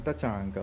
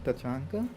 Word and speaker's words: Tachanka: Man Tachanga looking so deadly. Did I say it correctly? Tachanka.